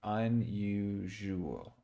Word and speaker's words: unusual: you look at it, but it's unusual, unusual, and it's almost, there is a little bit of like you're splitting the S, unusual, unusual. Okay, so it kind of sounds like you almost put the S on both sides of this, unusual.